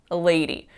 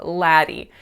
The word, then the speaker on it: lady: And instead of lady, I said laddie. So this one isn't that crazy, right? Like lady is spelled with the letter A, so it's conceivable that it could be pronounced with an a sound, but it's not. It's pronounced with the A sound.